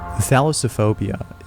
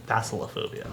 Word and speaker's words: thalassophobia: Thalassophobia is a certain type of phobia that involves an intense fear of deep bodies of...